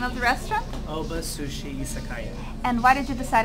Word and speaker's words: Oba Sushi Izakaya: Oba Sushi Izakaya.